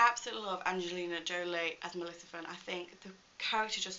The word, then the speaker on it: Maleficent: Maleficent, with my mum and my sister, obviously Maleficent 2.